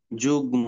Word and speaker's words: যুগ্ম: Oskar গ এ ম যুগ্ম উচ্চারণটা কি হবে? যুগ্ম নরমালি তো মটা আসলে এই গটাকে ডাবল করে দেওয়ার কথা। তাই না? এই গটাকে কি করে? ডাবল করে দেওয়ার কথা। কিন্তু দিচ্ছে না। কারণ ও গ এর সাথে